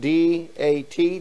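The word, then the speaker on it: דת: that's nonsense it's not true religion this is pronounced d a t dat religion okay way this is made up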